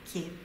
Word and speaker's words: che: Olha aqui, pronúncia do CHE é que.